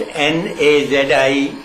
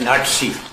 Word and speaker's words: Nazi: There was a British officer. He pronounced Nazi as Nazi. Yeah. Not Nazi. We call Nazi Yeah, Nazi. Nazi. I asked him. Yeah. He said, in my country, Yeah. Z is equal to TS.